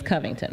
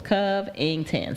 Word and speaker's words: Covington: My maiden name is Covington, right? 3 syllables. Covington.